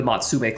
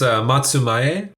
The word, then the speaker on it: Matsumae: Japanese authority of the Matsume clan. I'm saying that totally wrong, right? How do I say that? I'm so sorry, John. I know you know how to pronounce it. It's Matsumae.